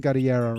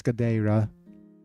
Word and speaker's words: Gadeira: I've been pronouncing Gadiera wrong all this time because it's Gadeira.